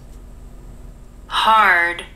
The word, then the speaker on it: hard: Hard. Hard. Это чуть-чуть сложно для иностранцев, потому что heart звучит очень похоже на hard. Hard. Но слушайте внимательно, это hard, а не heart.